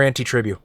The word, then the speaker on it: Antitribu: He was created by Tremere Antitribu. I believe it's pronounced anti-tribu. I've only heard one person say that, and I'm not going to say he's wrong because it's a made-up word.